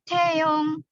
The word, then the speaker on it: Taeyong: Oke, contoh mungkin kalian akan familiar dengan kata Taeyong. Taeyong ya, personil BTS. Taeyong. Nah, T-nya itu pakai H ini ya, Rabun. T.